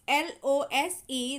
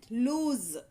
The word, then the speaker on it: lose: is s sound whereas in the lose l o s e there is a z sound at the end lose lose lose okay so